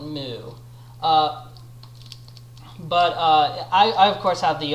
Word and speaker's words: MW: So, just to be clear, it's spelled M.W., but those in the know call it Mu.